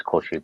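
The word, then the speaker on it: 孔子: Oh, so you start going, listen, and you start them with, in Japanese it's Koshi, but it's Confucius.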